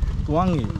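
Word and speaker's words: Tluangi: A N G I Tuangi yeah Tuangi there's an L so you have to Tuang Tuangi Tuangi but a little bit faster.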